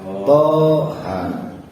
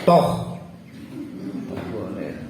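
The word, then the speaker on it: طه: PO dan huruf ha maka dibaca Thaha enggak boleh dibaca toh ya berarti artinya toh tu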